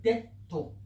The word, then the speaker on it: debtor: It means we won't call it debtor. We'll call it debtor, as in kind of silencing that one.